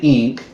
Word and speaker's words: XNK: No, but instead of using American currency, it uses ink, which is XNK, but somehow pronounced ink.